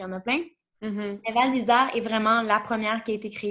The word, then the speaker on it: Val d'Isère: de comprendre c'est quoi il faut que je prononce bien, c'est Val d'Isère? Val d'Isère, oui.